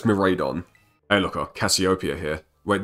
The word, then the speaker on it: Miraidon: I mispronounced his name a lot. I used to say it was Miraidon. I didn't see the A, in my defense.